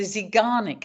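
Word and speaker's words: Zeigarnik: actual projects and tasks it's actually called the zanic effect so it has a name if you want to know how that's spelled and you want to look it up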